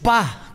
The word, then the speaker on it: Tupá: Tupa, con acento en la A. Claro, Tupa. No es Tupa. Lo dije bien, Tupa. Ah, bien, pensé que no, lo dijo bien. Tupa, porque es guaraní, el guaraní acentúa.